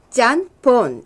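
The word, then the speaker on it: ちゃんぽん: 하는 중국말이 일본으로 들어가서요 일본에서 짠 폰 이렇게 발음을 했는데 그게 짬뽕이 됐는데요 웃기는 짬뽕 들 이야기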